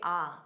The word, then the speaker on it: all right: So, instead of saying all right, native speakers commonly say ah.